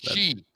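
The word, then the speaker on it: Xi: to meet with the she? Am I saying that right? Is it she Z? You are saying you are saying it right. Yes, she.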